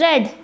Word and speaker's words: read: The present tense form is pronounced read, rhyme with the word seed, while the past form is pronounced read, same as the color red.